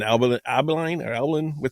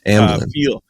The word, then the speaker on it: Amblin: I know that they said it has an Albalin, whatever ET. Can I pronounce it? Amblin.